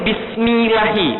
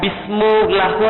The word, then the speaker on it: Bismillahi: Tapi kenapa bacanya ini Bismillahi, bukan Bismillahu atau Bismillahu? Kenapa Bismillahi?